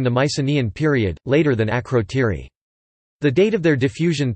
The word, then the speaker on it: Ακρωτήρι: Akrotiri (Greek: Akrotiri, pronounced Greek: Akrotiri) is a Minoan Bronze Age settlement on the volcanic Greek island of Santorini, Thera.